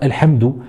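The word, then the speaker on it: الحمد: comme dans par exemple Alhamdou. Alhamdou. Alhamdou. Donc vous voyez, pour la prononcer, on va faire comme sur l'image. On va venir prendre l'extrémité de la langue qu'on va poser sur le palais.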